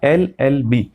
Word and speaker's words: LLB: तो यहाँ पे देखिए LLB, तो एल का जो प्रोनाउंसिएशन है एल, ए आ रहा है पहले, तो यहाँ पर क्योंकि वोवेल साउंड है इसलिए यहाँ पे एन आएगा, एन LLB स्टूडेंट।